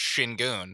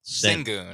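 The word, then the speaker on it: Şengün: The funny thing is he got the hidden S or SH at the beginning because it's Shingun. Yeah. If you think it's Singun.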